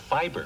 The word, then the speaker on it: fibre: I really love my fruit and fibre. That's fruit and fiber. Fruit and fibre. With exotic tropical fruit. Can't you see? It says right there, F-I-B-R-E, fibre. But it's still pronounced fiber.